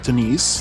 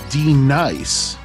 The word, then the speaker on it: D NICE: are d nice uh it is not pronounced denise despite appearances he is d nice and um he's um